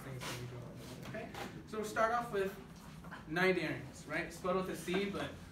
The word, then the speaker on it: Cnidaria: attention all those things so start off with 90s ranks but with the sea but don't pronounce the sea these are not games right